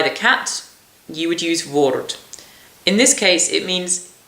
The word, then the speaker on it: woord: Woord is like, not a wart, but a woord. So a little bit, maybe a bit bigger and darker than a wart.